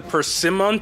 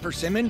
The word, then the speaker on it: persimmon: Could this be the persimmon tree? Right, that's how it's pronounced, persimmon? Persimmon? No, persimmon, because there's two M's.